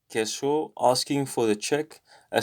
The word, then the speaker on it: queso: queso is just cheese so the q u sounds like a k so that's how it is in spanish queso asking for the check